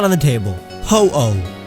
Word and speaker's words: Ho-Oh: Ho-Oh, not Ho-Ho.